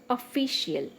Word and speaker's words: official: Official. Official. So the stress is on fi. FI.